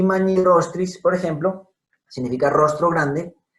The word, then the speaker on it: magnirostris: Entonces, magnirostris. No se diría magnirostris. Lo ideal sería que escribiéramos con doble R para que el lector hablante supiera cómo debe pronunciar la palabra.